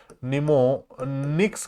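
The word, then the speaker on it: mnemonics: हैं उनको हम निमो निमोनिक्स कहते हैं। निमोनिक्स कहते हैं। क्या कहते हैं? निमोनिक्स निमोनिक्स कहते हैं। निमोनिक्स कहते हैं। इसमें एम जो है यह साइलेंट रहेगा।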